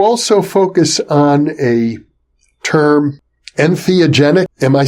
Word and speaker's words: entheogenic: and you you also focus on a term entheogenic am I saying it correctly yes yes I